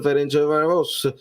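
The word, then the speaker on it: Ferencváros: Poi dopo si pronuncia, fammi vedere come lo stavate dicendo, si pronuncia Ferencvaros.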